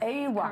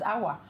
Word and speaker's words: Aiwa: The name of the band is Aiwa? Aiwa. Aiwa. Yes, Aiwa. correct. Okay, because, you know, last night when I read the research, I thought it was Awa, as in somebody hit me.